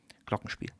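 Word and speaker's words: Glockenspiel: I I wanted to do a more of an English pronunciation but yeah it's a glocken spiel.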